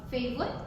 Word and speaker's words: favorite: Uh favorite. Favorite. Um this is okay. I understand this is this could be challenging to some because the R is a bit difficult to pronounce, right? Especially for Mandarin speakers.